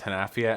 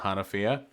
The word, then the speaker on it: Hanafia: Weekly reminder that it's pronounced Hanafia and not Hanafia.